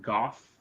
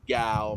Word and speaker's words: Gough: And this will be pronounced Gough, G-O-U-G-H. I've always said Gow myself.